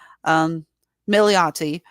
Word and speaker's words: Milioti: How the hell do you pronounce that again? Milioti.